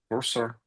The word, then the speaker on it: cursor: Cursor. It's even though it's spelled with an O, it's pronounced more like an ER, cursor, instead of cursor.